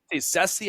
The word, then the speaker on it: Cease: How do I pronounce it? I like Dylan Cease. I thought it was always been Ceci. I've heard different outlets say Cease. I'm going to go with Cease. Sounds easier. Ceci just kind of, I don't know.